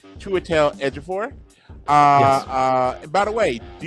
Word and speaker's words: Chiwetel Ejiofor: And I take great pride in pronouncing his name correctly, Chiwetel Ejiofor.